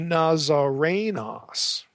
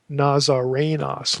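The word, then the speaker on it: Ναζαρηνός: Now, Jesus is elsewhere called a Nazarenos. Notice there's no long O there. Nazarenos, Luke 4:34, Luke 24:19.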